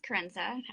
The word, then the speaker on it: Kerensa: um my name is Kenza a famous thing I always love to say is that it rhymes with influenza but not blue h